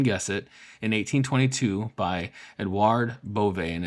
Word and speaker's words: Edouard: Bovet 1822, founded, as you can guess it, in 1822 by Edouard Bovet, and it's Edouard, and the E has an accento on top of it, right?